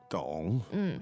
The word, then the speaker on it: 懂: So the first one was 懂，懂 dong, third tone.